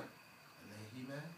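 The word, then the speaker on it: عليه: So how do you pronounce the human? Change it to a kesra. Alayhi.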